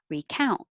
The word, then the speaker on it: recount: on the first syllable recount one two and the verb number six has stress on the second syllable recount and i don't have